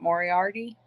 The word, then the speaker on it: Moriarty: Moriarty yeah is that how you say it Moriarty yeah and they're kind of nice which is